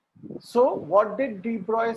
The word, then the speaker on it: de Broglie: Okay, so you will pronounce this word written as de Broglie as de Broglie.